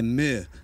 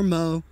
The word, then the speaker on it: MØ: We're Plaid Brixx, and this song is Final Song by Meh, or Mo, but I think it's actually pronounced Meh.